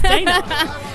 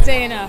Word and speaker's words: Dana: prononciation of your name it's not Donna it's Dana it is Dana do you get it a lot as in Danish I know I don't